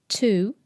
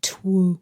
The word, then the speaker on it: two: But the two has a different sound, probably because it's easier to say two than twu. In Old English Anglo-Saxon, they had the W in the spelling and most likely pronounced